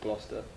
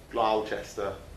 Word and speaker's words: Gloucester: all the way from the lovely city of gloucester lyle chester as the americans like to pronounce it yes um yes it's a comedy